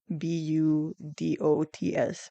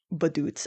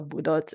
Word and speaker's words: budots: B U D O T S budots. And don't say it like "baduts". I saw I saw a video of someone covering uh budots and they pronounced it "baduts".